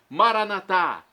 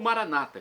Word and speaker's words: Maranatá: E agora, do aramaico dialeto de Jesus, eu clamo: Maranatá, vinde, Senhor Jesus. Ou Maranata, como dizem os nossos irmãos separados, os evangélicos ou protestantes. Não importa, a pronúncia e o significado é o mesmo.